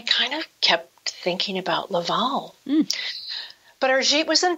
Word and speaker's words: Laval: a lovely small riverside city called laval and that's spelled l-a-v-a-l laval and you know in the mayan there